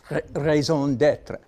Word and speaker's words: raison d'être: that Larry Ray's owned it say it again raison d'être which means reason for existence motivating factor deep